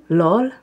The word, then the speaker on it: Lor: How do you say that again? Lor. L-O-R.